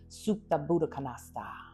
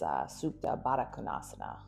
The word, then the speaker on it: Supta Baddha Konasana: So this is reclined cobbler's pose or Supta Buddha Konasana. That's not how you say it. It's Supta Baddha Konasana. Yeah, that sounded better.